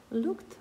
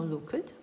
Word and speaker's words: looked: Причому важливо, що «е» ми не вимовляємо. Ми не говоримо «looked», а говоримо «looked». «And the mouse looked good».